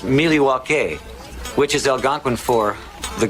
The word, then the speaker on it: Milwaukee: the celebration begin yep let the celebration begin milwaukee you are champions actually it's pronounced miliwake which is algonquin for the good land beat